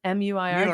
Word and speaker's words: Muir: So how do you pronounce Muir? Muir? M-U-I-R? David. Oh, Muir.